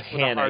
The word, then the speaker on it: Johanna: Johanna. Yeah, you're supposed to say it. The hard H.